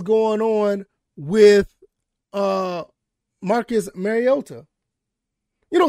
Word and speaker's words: Mariota: on with uh Marcus Mariota you know somebody tried to get on to me about pronouncing his name that I need to pronounce the T and I'm I'm I'm making it with the Y whatever I just thought